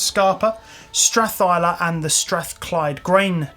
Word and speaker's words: Scapa: Glenkeith, Glenlivet, Glentockers, Longmorn, Milton Duff, Scarpa, or Scapa, but apparently it's pronounced Scarpa, Strathyla, and the Strathclyde Grain Distillery.